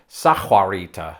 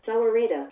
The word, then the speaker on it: Sahuarita: it is something like sajuarita this is embarrassing let's take a look sauerita sour reader so it wasn't far off but that is definitely a silent h oh look at all